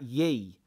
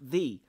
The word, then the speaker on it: ye: there never pronounce that ye as in ye olde that is not a why it's known as a thorn it's a th so it's still pronounce thee stop saying ye anyway